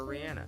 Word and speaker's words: Rihanna: Same shit with Rihanna, so from now on, I will call her Rihanna.